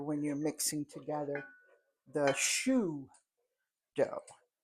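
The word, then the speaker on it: choux: you're mixing together the shoe dough I love the word shoe c h ux if I tell one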